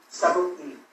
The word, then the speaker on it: Subway: Subway. So think Martini, but Subway.